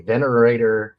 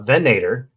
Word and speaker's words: Venator: Uh I've got a venerator a venator.